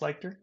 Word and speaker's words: Lichter: have on my podcast P leer is it pronounced leer yeah sure yeah yeah and she is a